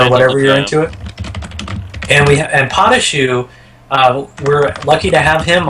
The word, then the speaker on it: Patashu: And then as guests we have Prometheus himself and Patashu as well to relate Hello, some of his I'm Patashu.